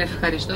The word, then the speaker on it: ευχαριστώ: La palabra eucaristía, que la utilizamos en la iglesia, viene del el ευχαριστώ, es lo mismo. EU en griego se pronuncia como EF, ευχαριστώ.